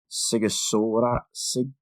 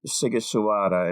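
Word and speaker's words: Sighișoara: Seems I'm not sure if the GH is Sigi or Sigiswara in Transylvania, but it wasn't actually Transylvania at the time, I don't think.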